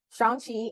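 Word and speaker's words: Shang-Chi: season one Shang sh oh let me not pronounce that wrong Shan Chi and the legend of the T runes eternals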